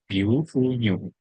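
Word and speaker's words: 牛乳: Guunyu ini cara membaca yang benar adalah guunyu. Guu artinya adalah susu sapi.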